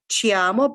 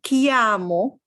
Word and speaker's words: chiamo: and then me and people who know spanish may be tempted to say chiamo but no this this is the way to make the sea hard me chiamo and then your name